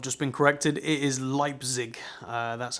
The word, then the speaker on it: Leipzig: dimensions so i've just been corrected it is leipzig uh that's how you pronounce it i probably again said it wrong